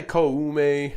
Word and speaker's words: Koume: I just say Koume because Koume.